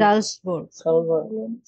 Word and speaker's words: Salzburg: তারপরে ভন্ট, Japan, wohnt in Salzburg, জালসবুর্গ। Salzburg. সালস না ভাই, এটা এস সিঙ্গেল শুরুতে বসেছে না, জয়ের মতো উচ্চারণ করবেন। জালসবুর্গ।